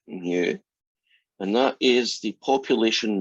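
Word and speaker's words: mu: average edge we use the greek letter that looks like that you pronounce it new and that is the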